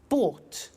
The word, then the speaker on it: bought: Buy, bought. You notice that O-U-G-H-T is pronounced ought.